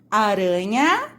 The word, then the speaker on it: aranha: Observem só, a única diferença entre as duas palavras é que a aranha tem um R só e o arranha tem dois R's. E veja como muda o som.